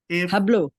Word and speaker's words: hablo: I speak joak to hablo ah there you go but the age is silent Joe hablo yeah if